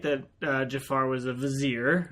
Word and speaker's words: Vizier: Well, you could do hashtag rhymes with a brazier.